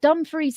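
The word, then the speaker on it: Dumfries: a chilling encounter at Dum Frey's house but dumphrey is spelled like dumb fry and now you cannot unse it could spell duu m and then fries like french fries so Camila experienced a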